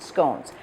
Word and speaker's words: scone: the same thing as scon or you may pronounce it scones so to begin we